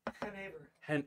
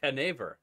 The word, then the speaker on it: genever: Never 100% sure how to pronounce this one. How do you say it? Genever. Genever.